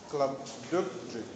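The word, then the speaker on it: Glubbdubdrib: Part 3 is entitled A Voyage to Laputa, Balnibarbi, Lugna, Klubdubdrib, and Japan.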